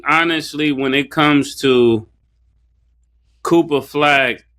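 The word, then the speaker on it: Cooper Flagg: when it comes to coopa flag how you say his name coopa flag Cooper flag yes yeah um he can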